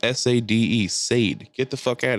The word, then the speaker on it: Sade: It's pronounced Sade.